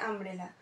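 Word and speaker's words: umbrella: ইউ ইউ হচ্ছে না এখানে ইউ এর উচ্চারণটা ইউ হচ্ছে না আ হচ্ছে আমব্রেলা সেজন্য এটা আগে আমব্রেলা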